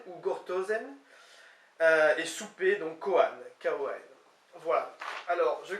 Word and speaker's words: koan: Et souper, donc koan, K-O-A-N.